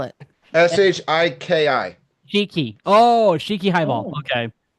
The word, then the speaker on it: Shiki: highball sh shik Shiki Shiki how do you spell it sh sh i k i Shiki oh Shiki hiball okay so this one